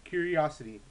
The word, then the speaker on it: Qriocity: on playstation network and curie curiosity q r i o c i t y yes that's how you say it and basically in